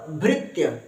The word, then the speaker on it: भृत्य: त्य क्या लिखा आधा त देखो क्या लिखा है आधा त और य तो इसको क्या बोलेंगे त अगर पूरा त और य होता पूरा त और य होता तो बोलते तया लेकिन तया पूरा त तो है नहीं ना आधा त है तो आधा त को जल्दी बोल देना है त्य क्या बोलेंगे त्य तो ्र त्य भृत्य क्या बोलेंगे ्र त्य